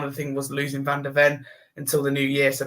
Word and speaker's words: van de Ven: I don't pronounce the same. Van de Ven. Yeah, Van de Ven.